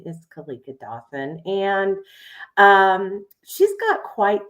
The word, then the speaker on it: Keleka: Well, once again, my name it's actually pronounced Keleka, but a lot of people pronounce it.